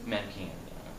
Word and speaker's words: Manichean: In a world I have seen so much and experienced so much that I am a, how do you pronounce that, Manichean? Manichean, yeah.